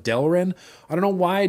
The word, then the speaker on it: Delrin: I say Delrin or Darylin sometimes instead of Delrin.